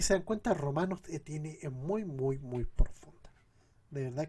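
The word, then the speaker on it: Moo: mo m o o así como mu pero m o o y se pronuncia mu buenísimo se lo recomiendo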